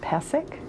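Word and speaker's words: Pysyk: year's broadcasters can you let people know it's pronounced passic yeah because Bob McKenzie and all these other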